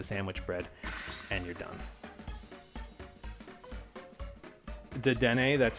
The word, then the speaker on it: Dedenne: Dedenne, that's how you say it.